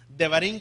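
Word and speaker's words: דברים: palabra Deuteronomio odevarín es Cómo se dice Deuteronomio en hebreo se los acabo de decir verdad de barín devarín Qué significa la palabra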